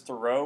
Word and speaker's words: Thoreau: Thoreau and really if everyone basically today says Thoreau where you put emphasis on the second syllable the thought is it was probably pronounced more like Thoreau like a thorough reading of throws text but